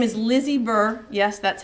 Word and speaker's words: Lize: um my name is Lizzy Burr yes that's how my name is spelled and I'm the coordinator